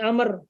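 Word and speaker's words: عمرو: tidak dibangun jadi karena baunya itu untuk membedakan antara Umar dengan Amr Kalau tidak ada baunya nanti dianggap Umar Kalau tidak ada baunya nanti bacanya akan dibaca Umar dan agar tidak dibaca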